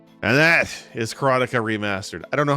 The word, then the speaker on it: Karateka: I pronounce it, and I've always pronounced it, and you're going to hear me say this all the time, is Karateka.